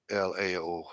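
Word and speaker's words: Laos: here and Lao Lao LA oh it has an S on it but guys it's pronounced Lao there's no plural s's in Asian language so it's just Lao okay so there's the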